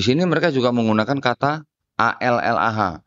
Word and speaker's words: Allah: Di sini mereka juga menggunakan kata A-L-L-A-H, Allah bacanya di dalam kitab mereka. Saya bacanya Allah Pak ya, karena di sini nggak ada tasdidnya Pak. Ya, jadi saya bacanya Allah di dalam kitab ini.